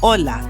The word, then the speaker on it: hola: Ola. The H is silent.